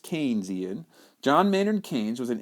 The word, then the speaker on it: Keynesian: other view is the Keynesian view and that's pronounced Keynesian John Maynard Keynes was an English economy during